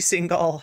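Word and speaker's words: Singal: illustrious uh transphobe Jesse single sorry single I believe is how it's pronounced um has a podcast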